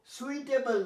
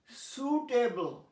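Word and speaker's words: suitable: Fruit, সুটেবল, দেখো সুইটেবল নয়, সুটেবল।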